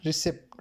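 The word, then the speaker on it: receipt: Next question है silent letter इन रिसेप्ट। रिसेप्ट के अंदर जो है वो कौन सा लेटर साइलेंट है? तो पी यहां पर क्या है? साइलेंट है।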